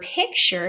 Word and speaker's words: picture: If you think about the word picture, here we have a U-R-E that should produce a more emphasized sound, but because pick is the accented syllable, the ch just becomes more de-emphasized and can be considered a schwa.